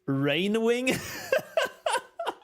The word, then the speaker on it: Rainwing: I just now realized when reading the name, dude, I always thought it's 2A somehow. It is so as in rain.